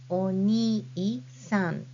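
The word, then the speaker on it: おにいさん: Oni-san. So when you spell it, you add hiragana I in between ni and sa. And then when you read this word, it is oni-san, not oni-san. You say oni-san.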